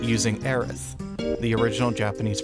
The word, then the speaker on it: Aerith: her name is erith a-e-r-i-t-h and in subsequent media we have gone from away from using the S version of her name to the th up